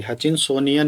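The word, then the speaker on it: Hutchinsonian: इसकी स्पेलिंग थोड़ी, हचिंसन, हचिनसोनियन, sorry हचिनसोनियन निश।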